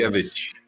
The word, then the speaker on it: Czeszkiewicz: Yes, you almost nailed it, as it is in Polish. Czeszkiewicz.